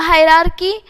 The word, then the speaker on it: hierarchy: अ हायरार्की इज, देखो इसका ची नहीं आएगा, इसका क्या आएगा, हायरार्की आएगा।